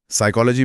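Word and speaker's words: psychology: साइकोलॉजी में P silent है।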